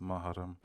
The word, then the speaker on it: Mahram: Ouais, tu sais, Mahram, si je sais tu pas veux, comment tu prononces. Mahram.